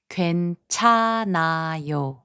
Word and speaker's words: 괜찮아요: The consonant 히응 becomes silent when it is the last consonant of a syllable.